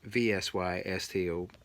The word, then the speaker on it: Vsysto: you to fisto um i don't even know if i'm saying it correctly but it's vsy sto it's a driving recorder they call it so i'll call it vista it's good enough for me so thanks for watching